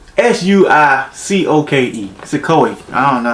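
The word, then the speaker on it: Suicoke: to learn it for the video's sake, but Suikoi, S-U-I-C-O-K-E, Suikoi.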